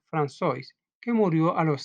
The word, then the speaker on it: François: Tuvo un hermano gemelo, François, se pronuncia François, que murió a los 6 meses de vida.